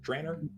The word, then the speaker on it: Draenor: Draenor, is that how you pronounce it? Draenor. Trainer, yeah. Draenor.